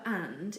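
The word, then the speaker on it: est: the French word for and is pronounced a not at it's simply a the verb is such as he is and she is it does look like s but it's actually also pronounced a for example la T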